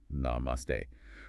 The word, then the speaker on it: namaste: Level one, namaste. Pronounced namaste.